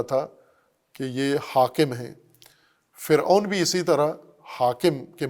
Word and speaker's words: فرعون: عربی بنایا گیا ہے، اس کا مصری تلفظ فرعو تھا یا فرعوا تھا، فرعون عربی بنانے کی وجہ سے فرعون ہوا ہے، مصری تلفظ یہ نہیں تھا۔ اس کا مطلب